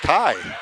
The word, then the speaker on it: Key: I worked with a gentleman whose last name was Key, and he pronounced it Kai.